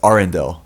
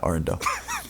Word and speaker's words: Arendelle: Wait, it's Arendelle. Yeah, Arendelle.